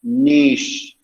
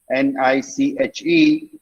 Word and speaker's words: niche: it wrong the word the pronunciation is niche n-i-c-h-e is niche you know um the